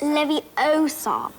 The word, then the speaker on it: Leviosa: someone's eye out besides you're saying it wrong it's Leviosa I've been Guardian Leviosa oh